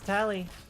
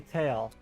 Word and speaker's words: Tali: whenever I meet people they often call me tail I'm just like okay I sometimes I'm like you say it like tally like a tally mark it's a Hebrew name oh tor of us